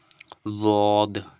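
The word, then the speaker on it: ض: না মাড়ির দাঁতগুলো রয়েছে তো মাড়ির দাঁতের সঙ্গে কি করতে হবে টাচ করে দিতে হবে তাহলে কি হবে দ উচ্চার হবে একটু ট্রাই করুন চেষ্টা করুন তাহলেই আপনি বুঝতে পারবেন দদ কি দদ দদ ঠিক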